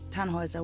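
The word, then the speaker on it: Tannhäuser: what's your name tanhauser we'd pronounce it tanhuisa with an umlaut german roots yes my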